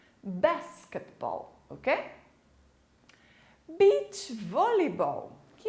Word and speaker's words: basketball: Você pode perceber que a sílaba mais forte é no início da palavra, diferente da língua portuguesa. Basketball, ok?